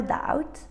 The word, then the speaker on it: doubt: Silent letter 3. Listen up. There's no doubt that after climbing the mountain, your thumbs and limbs were numb.